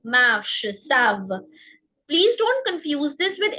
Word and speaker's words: savent: Here, our rule is that we don't pronounce the NT in the end. It's parle, marche, savent.